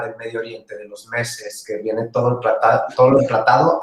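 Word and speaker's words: meze: Allá en Líbano es muy normal tener platos al centro que se le llama mese. El mese, que se escribe M-E-Z-E, es al término que se le da a la palabra en árabe que significa tapas.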